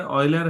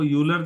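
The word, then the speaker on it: Euler: mathematics ध्यान रखिएगा Leonard ऑयलर है य स्विस मैथमेटिशियन थे स्विटजरलैंड के तो इनके नाम पर है ऑयलर बोलते हैं व यूलर जैसा लगता है ऑयल की तर प्र प्रोनंसिएशन होगा थोड़ा उच्चारण पर ध्यान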